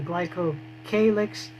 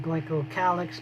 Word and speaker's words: glycocalyx: But the capsule is part of the glycocalyx or glycocalyx, both pronunciations are correct, and that is a structure outside the cell wall that the cell secretes.